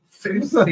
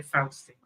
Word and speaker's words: fousty: So I don't know what fousty is. Stucky. Southerners would say Fausty. Well, I would say Fousty only because I was raised by Northerners. So, but I know it is pronounced as Fausty as well.